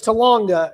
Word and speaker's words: Talanga: Yeah, cuz every time I see it, I immediately want to think Topanga from Boy Meets World. Uh, showing my age here. I don't know why, but uh, but it's Talanga and so So the